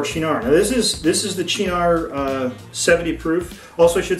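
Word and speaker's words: Cynar: Now this is the Chinar 70 proof. Also, I should say something about the pronunciation. All the research I've found says that this is pronounced Chinar with a CH.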